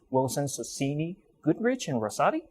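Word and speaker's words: Wilson Sonsini Goodrich & Rosati: Following his graduation, he joined the Palo Alto-based Wilson Sonsini Goodrich and Rosati. Am I pronouncing that correctly? WSGR, okay. yes.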